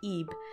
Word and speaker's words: Ib: I've learned that it's not pronounced tube it's pronounced EEP anyway you may guest from my multiple references